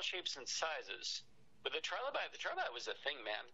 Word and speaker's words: trilobite: It's, how you pronounce it, trilobite?